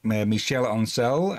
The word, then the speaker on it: Michel Ancel: We've already said multiple times that the creator, Michel Ancel, I believe that is how it's supposed to be pronounced, the creator of Rayman, he was only